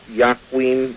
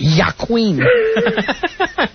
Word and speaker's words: Joaquin: And, of course, Mel Gibson's in it, and you've got Joaquin Phoenix, or however you want to pronounce his first name. You've got a Culkin in it. I'm sure it's not Joaquin.